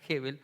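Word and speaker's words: הבל: le da a abel abel en hebreo se pronuncia heaven aparece en eclesiastés 12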